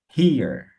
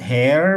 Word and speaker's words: here: Here. From here. Yeah, here. Here. Yeah, so not hair, but here.